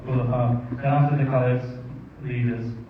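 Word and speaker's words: خلفاء: You pronounce it right. Khulafa.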